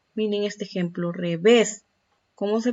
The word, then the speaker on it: revés: Miren este ejemplo, revés. ¿Cómo se pronuncia? ¿Dónde está la mayor fuerza de voz? En la última.